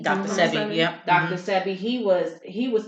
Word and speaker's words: Sebi: Even the doctor, how you say his name, Sebi? Dr. Sebi, yeah.